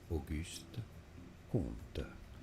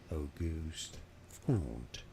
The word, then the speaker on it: Auguste Comte: In French in France, it is said as Auguste, Auguste, Auguste Comte, Auguste Comte. So in English, if you cannot pronounce French perfectly, I suggest you can say it as Auguste, Auguste Comte, Auguste Comte.